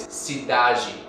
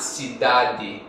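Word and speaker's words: cidade: them soft so for example the word for City in Portuguese is Sidi that's a d at the end not Sadi which is more Continental Portuguese or Portuguese from Portugal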